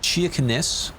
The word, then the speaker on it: Kirkenes: In Kirkenes. Kirkenes. It's pronounced wrong. It's like Kirkenes. But if I say that, people won't know what I mean.